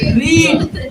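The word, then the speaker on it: read: रीड। लेकिन verb का तीसरा क्या होता है? रेड होता है। इसको प्रोनाउंसिएशन रेड का किया जाता है, लेकिन इसका वर्ड वही रहता है, रीड ही होता है।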